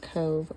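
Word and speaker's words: Cobh: um Cove or it's it's C O B H, but it's pronounced Cove or Cork Ireland because it's county cork.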